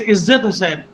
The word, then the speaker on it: Izzat Hussain: please pronounce my name properly. It's Izzat Hussain, and Izzat, I think everybody loves to the Izzat.